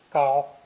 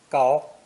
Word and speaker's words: 高: This character is pronounced first tone, gao, gao, and means tall or high, physically or metaphorically.